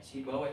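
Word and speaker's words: سيبويه: we weh weh itu kalau oleh nuhat parainaw dibaca we sibaweh tapi oleh muhadisi gak dibaca W tapi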